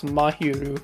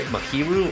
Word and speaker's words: Mahiru: might be useful here I could actually pronounce mahiru correctly yes like I've heard it say makiru or Maki I think makiru is telling yeah